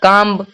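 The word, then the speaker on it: comb: है यहां पे उसके बाद भी है तो कम काम काम काम मतलब होता है कंधा डी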